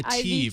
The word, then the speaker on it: ATIV: And in maybe kind of weirder news, they announced and tell me if I'm pronouncing this correctly, the ATIV Q. The Ativ.